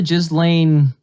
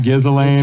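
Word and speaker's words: Ghislaine: how to play yeah it's just lane it's just lynn i looked it up i'm not saying that very confident i'm not being racist i'm not talking about i'm just saying that like you're saying it's pronounced just it's yeah it's not gizzling or something like that you can't write this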